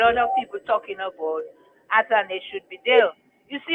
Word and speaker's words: Athanaze: You see, when they had put Fletcher as captain instead of Athanaze, I say Athanaze because he said that is how to pronounce it.